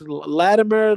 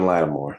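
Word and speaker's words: Lattimore: Latimer last summer. You said it right. Marshon Latimore.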